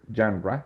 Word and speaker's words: genre: body and genre which the pronunciation it's a little bit different as Daniel did it genre yes it's more related